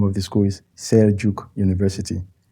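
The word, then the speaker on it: Selçuk: If you see that written down, you probably will see Sekuk. Okay. But Turkish language, that is the way you read. There are letters that are pronounced differently from the usual, English alphabet. Okay. Yeah, so they have this C, and they have this letter C with like a dot under.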